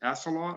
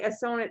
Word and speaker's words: Assonet: I guess, East Freetown and is it Assalot? I don't know the other side. So those are what they were talking about. So I'm not good I speak kind of fast and sometimes my pronunciation takes a moment. If you come here, you better say Assonet the correct way.